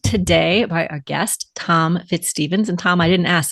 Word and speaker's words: FitzStephens: we are joined today by our guest Tom fitzstevens and Tom I didn't ask did I pronounce that correctly you did yeah okay wonderful